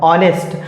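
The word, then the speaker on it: honest: पढ़े भी है और ऑनेस्ट इसमें एच साइलेंट है और इसमें एच साइलेंट होने की वजह से इसका सही उच्चारण हो जाएगा ऑनेस्ट और ऑनेस्ट में सबसे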